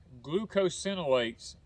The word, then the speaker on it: glucosinolates: words but i think i think the correct pronunciation is glucosinolates is what it puts